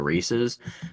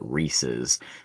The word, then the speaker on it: Reese's: my next Point uh if you'll notice I pronounced it Reese's because there's a weird bit of the population out there that calls it a Reese's um which it you know if we think the Easter Bunny is fictitional so is the pronunciation of Reese's okay I don't know